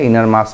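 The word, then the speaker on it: enormous: এই ইনরমেস মানে হচ্ছে, ইনার মাস মানে হচ্ছে বিশাল, ইনার মস, ওটা উচ্চারণ ইনার মস।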